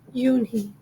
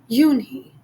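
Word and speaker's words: Unhei: turned to Joey she nodded slowly yes it's pronounced Yuni and it means Grace Mr Kim added Yuni Joey said slowly and this time perfectly it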